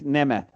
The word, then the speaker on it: Nemeth: I'll do that only if you learn how to pronounce his name correctly. Nick Nemeth.